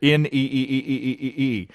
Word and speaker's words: nee: motion with me yelling NE pronounced in English like nay oh I I got it right Dutch for no oh and bursting into